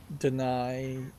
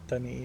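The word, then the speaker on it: D'ni: You have this deny Native American looking writing, which I don't think actually is deny or dunny. What dunny is what they pronounce it as.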